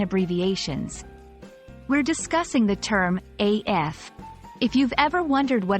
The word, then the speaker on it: AF: spoken in spoken form it's usually pronounced as the individual letters AF When writing it's commonly